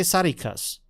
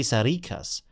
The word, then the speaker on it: Sarikas: I think they say Sarikas with the pronunciation on the end, and I say Sarikas with the pronunciation at the start.